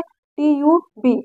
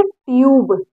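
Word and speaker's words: tube: दए इसको क्या पढ़ेंगे ट्यूब ट्यूब ठीक है इसका उच्चारण नहीं हो रहा लेकिन इस पर असर पड़ रहा है पड़ रहा है ना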